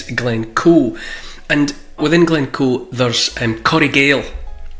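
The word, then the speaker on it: Coire Gabhail: And within Glencoe, there's Corriegale, which is not pronounced like it's spelled, but Corriegale means the hidden valley or the lost valley, and it's a work of nature.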